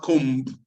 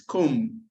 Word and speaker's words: comb: It's not comb. It's comb.